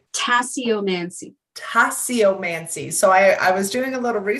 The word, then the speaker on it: tasseomancy: do a little research about how do you pronounce it? Tessomancy? Tasseomancy.